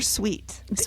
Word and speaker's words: Sweat: Is it sweat or sweet? They never said. Okay. Because it's Forest S. And that looks to me like sweat. It's sweat.